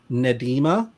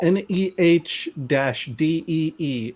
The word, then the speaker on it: Nnedi: It is pronounced, her full name is Nedima, and it is pronounced Nedi. So Nedi? N Cool. Neh Dee is how she has written it out.